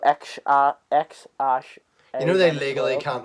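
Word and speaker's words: X Æ: Yeah, so it's pronounced X and the A is pronounced Ash. It's Ash, isn't it? Yeah. So X Ash.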